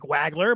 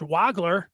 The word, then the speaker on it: Wagler: Wagler, I say it like that because it looked like Wagler, but it's pronounced Wagler.